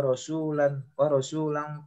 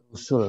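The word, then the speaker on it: رُسُل: Wa rasulan qad qasasnahum 'alaika min qabl wa rasulan lam naqsushum 'alaik. Surat An-Nisa ayat 164. Rusul bacanya bukan rasul ya.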